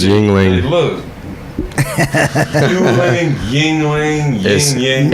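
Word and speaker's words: Yuengling: Hey man, you know what I noticed about this Yuling? It's got fluorescent fucking labels, dude. It's pronounced Hey, Yingling.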